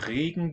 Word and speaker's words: Regen: Und regen diese vorübergehend an. Regen has a long one, long vowel.